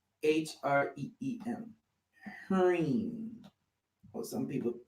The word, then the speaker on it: Hreem: Anyway, Hreem. H-R-E-E-M. Hreem. Or some people spell it H-E-R-E-E-M.